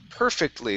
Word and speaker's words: perfectly: up is the word perfectly The stress is at the beginning instead of perfectly It's perfectly Perfectly Perfectly Okay Push